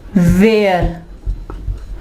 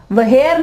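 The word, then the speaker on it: where: व्हेन, व्हेन, वेयर। अब देखें यहाँ पे एच जो है आवाज नहीं दे रहा, वहेर नहीं कहेंगे, वहन, नो, इसमें एच जो है वो साइलेंट है और ये जो है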